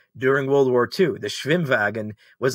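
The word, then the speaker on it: Schwimmwagen: vehicles of anybody during world war ii the schwimwagen was like a a beetle-based uh amphibious car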